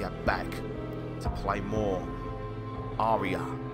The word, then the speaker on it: Araya: back to play more Arya not arah Arya got the name wrong